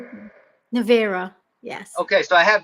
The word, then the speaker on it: Navira: your Navira.